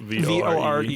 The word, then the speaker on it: vore: V-O-R-E. V-O-R-E? Vore. Vore. Yeah. Like, or divorce. Omnivore. Oh, like carnivore.